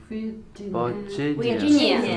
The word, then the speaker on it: Virginia: Look, the second syllable is the strong one. Which suburb is this? Virginia.